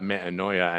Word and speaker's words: metanoia: you said there is, we talk about metanoia. That's how it's pronounced now. We talk about metanoia and how it's the breaking down and rebuilding of a human being.